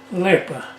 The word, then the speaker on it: Липа: яке в вас було липий як липий липий липа а Липа не Липа липий то був такий опришка липий на подоби наподобиі липий наголос на який склад липий чи липий липий